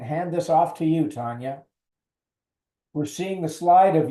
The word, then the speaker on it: Tanya: my name is pronounced Tanya unfortunately it's more like Tanya Harding for those of you that know not so much like Tanya Tucker who is actually one